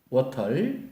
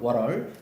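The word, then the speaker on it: water: 물, 워털, 그렇죠. 본토 발음 워럴, 그렇죠.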